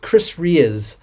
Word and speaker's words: Chris Rea: I think last year I did a little parody of Chris Ray, I believe it's pronounced, Driving Home for Christmas.